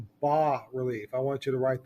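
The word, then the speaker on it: bas-relief: called as also called ba relief I want you to write that down Bas is pronounced ba it's pronounced like ba humbug High Relief comes out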